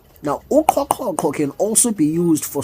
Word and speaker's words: uQhoqhoqho: Uqhoqhoqho. Now, uqhoqhoqho can also be used for swallowing generally, not